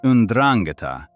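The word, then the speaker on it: Ndrangheta: The Andrangata, pronounced Unrangata, was not born through some grand criminal ambition.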